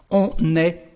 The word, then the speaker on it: on est: There is a liaison, because we've got a consonant at the end of the subject. So how to say that? We say on est fatigué.